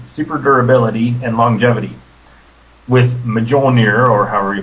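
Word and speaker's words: Mjölnir: With Mjolnir, or however you pronounce it. it's Mullinger, my good boy.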